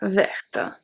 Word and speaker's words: verte: The last letter that I pronounce at verte is the T.